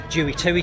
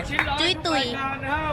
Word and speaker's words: Jui Tui: The last time I made a video on this temple, I pronounced it wrong. I said it was called Jui Tui Temple, but in fact it's not called Jui Tui Temple.